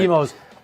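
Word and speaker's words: Imo's: Emo's, IMO is Oh. how it's spelled.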